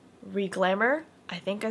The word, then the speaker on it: Riglamour: It's a lace front wig, and it is from the company called Riglamour. I think I said it right. It's Riglamour.